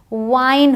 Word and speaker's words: wine: अब जब आई हो और ई लास्ट में हो तो ई तो साइलेंट है और लॉन्ग आई का साउंड है। अब ई का साउंड नहीं है, अब आई का साउंड है। तो WIN विन होता है, बट WINE वाइन होता है।